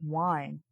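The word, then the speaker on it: Wyen: I didn't realize Wynn was supposed to be pronounced like wine.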